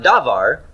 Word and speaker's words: devar: nouns all right is devar a cycle it now no it doesn't pass the smell test does it it neither has first syllable stress it's not devar but devar stress on the end and there there's not